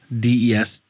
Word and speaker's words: Destihl: Destil or distal? Destihl. That's how I say it.